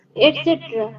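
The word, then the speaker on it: et cetera: ইত্যাদি হ্যাঁ মানে এবার ইংরেজিতে কি বলে সেটা এটসেট্রা এটসেট্রা এটার উচ্চারণ হচ্ছে এট সেটেরা এটা কোন ইংরেজি ওয়ার্ডই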